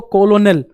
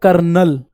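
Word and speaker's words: colonel: ऐसे ही कर्नल को कॉलोनल लेकिन बोला क्या जाता है कर्नल इतनी बात आ रही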